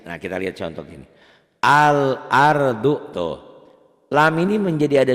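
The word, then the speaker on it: الأرض: Huruf komariah, alif lam komariah apabila dibaca tulisan dan bacaannya sama. Al-ardu. Alif lam komariah ini juga disebut ya idhar komari. Kenapa idhar? Karena dibacanya nggak boleh idgham, nggak boleh al-ardu, nggak boleh ditahan.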